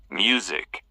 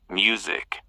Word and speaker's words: music: Music. Focus on the Z sound in the middle. Music.